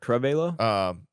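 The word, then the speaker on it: Cravalho: Cravello. That one. I'm gonna say that you're gonna pronounce it from now on for me.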